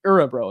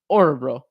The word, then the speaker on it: Örebro: Örebro. It's like Höglander. It's like the O with the umlaut. It's pronounced Örebro.